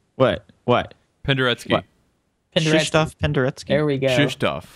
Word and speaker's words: Krzysztof: Patrick just gets all crazy with the pronouncing this name. What? Penderecki. What? Krzysztof Penderecki.